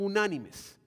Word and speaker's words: unánimes: El verso 24 dice, "Y ellos, habiéndolo oído, alzaron unánimes, acento en unánimes, la voz a Dios."